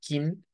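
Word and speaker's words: Kinn: raíz pero esta Sí porque en inglés a la barbilla se le dice Shin y pues en alemán es kin es bastante parecido ahora vamos a la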